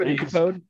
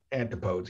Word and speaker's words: antipodes: Antipodes. Yeah, it's called antipodes. Antipodes. It's spelled A-N. Let me do it like spelling bee. A-N-T-I-P-O-D-E-S. Antipodes. Oh, it's not antipode? It's antipodes? No, antipodes. Like antithesis, not antithesis.